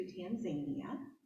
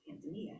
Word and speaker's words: Tanzania: So as many of you know, we recently went to Tanzania, which is how they pronounce it here, or there, we pronounce it Tanzania here.